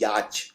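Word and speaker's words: yacht: कोई वाई ए टी लिखता है लेकिन इसकी स्पेलिंग बहुत ही अलग है इसको हिंदी में बोलते हैं याच छोटी नाव तो याच को लिखते हैं वाई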